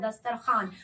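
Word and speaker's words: دسترخوان: जैसे देखिएगा ख्वाब लिखाता है ख्वाब और पढ़ाता है खाब, दस्तरखान लिखाता है, पढ़ाता है दस्तरखान।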